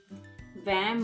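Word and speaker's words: vingt: is 20 in french where v-i-n-g-t gt is silent vam moines what is 12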